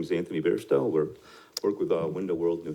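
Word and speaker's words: Beairsto: Hi, my name is Anthony Bairstow. Work with Window World, New Hampshire. Anthony? Bairstow. Okay. Can you spell that?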